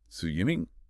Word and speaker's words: Su Yiming: Su Yiming.